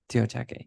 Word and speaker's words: Teotihuacan: Teotihuacan, yes.